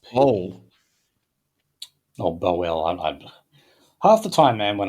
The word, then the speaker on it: Bowell: Oh, Bowell. Half the time, man, when I'm pronouncing these names, if I haven't heard them...